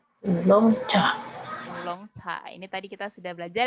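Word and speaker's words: 乌龙茶: Itu namanya ulong cha. Ulong cha. Ini tadi kita sudah belajar ya. Apa ini tadi?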